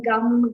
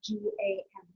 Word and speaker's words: gam: So all those key bija mantras like Om Gam Ganapataye Namaha, you might see it spelled G-U-M, but it's G-A-M, Gam, right?